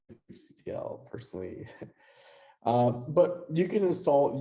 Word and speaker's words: kubectl: Actually, there's an entire talk today at DevOps Days that will have about how to pronounce kubectl, this kubectl. I say kubectl personally.